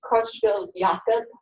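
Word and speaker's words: Creutzfeldt-Jakob: disease is called CJ is the credits it's pronounced Crutchfield Yaka Yaka looks like Jacob but it's you got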